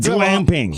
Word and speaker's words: glamping: glam love of God glamping hard G like again GLA MP glamping what the heck is